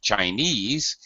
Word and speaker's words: Chinese: this in in the word just by itself Chinese the stress syllable is ease all right that's the